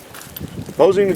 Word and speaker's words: Mosin: Mosine gone. Sometimes called the mosenagant. Mosenaggon. All kinds of things. Uh they tell me the correct pronunciation is Mosin.